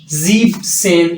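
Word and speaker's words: siebzehn: है जक्स जक सेन जीब सेन यहां पर भी न जो है वो आपने खत्म कर दिया जीब सेन आख से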